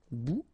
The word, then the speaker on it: bout: Okay, bon, all right, and here we've got substantive, un bon, un bon, un bout. Remember, final T not pronounced, un bout, une bout.